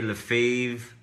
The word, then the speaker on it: Lefebvre: Sebastian's last name in French is Sébastien Lefebvre, but some people say Lefebvre, but the real right pronunciation is Sébastien Lefebvre.